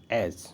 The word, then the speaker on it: edge: तो आप समझ गए, EDGE एज। ठीक है, एज पढ़ते, एज, इट नहीं करें, एज, हैज़, वेज, इन वर्डों को आप नोट करते चलिए, नोट कर लीजिए।